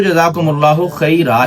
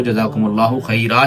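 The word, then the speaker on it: جزاکم اللہ خیرا: پھر اس میں یہ آتا ہے کہ جزاکم اللہ خیر کہیں یا خیرہ کہیں. تو اصل لفظ تو جزاکم اللہ خیرہ ہی ہے، جو درست ہے تلفظ کے ساتھ وہ جزاکم اللہ خیرہ ہی ہے. باقی اگر کوئی جزاکم اللہ خیر بھی کہتا ہے تو عوام میں ایسی غلطیاں عام پائی جاتی ہیں.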